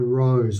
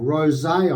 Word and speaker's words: Rosé: And this is their Rose, or Rosé, I think that's actually pronounced, the same as the wine.